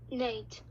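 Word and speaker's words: gnat: In some words, G does not make a sound. It is called silent G. So this word is Nate. nat. Nat. Yes, when the combination of GN is at the beginning of a word, the G is silent, so we don't say it.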